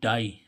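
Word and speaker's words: die: means बांधना ऐसे ही इसमें डी आई ई डाई डाई means मरना ठीक है इसमें भी देखो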